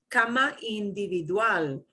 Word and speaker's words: individual: okay ah informal informal so you'll notice all these things that end in ls you punch the end of the word right informal individual this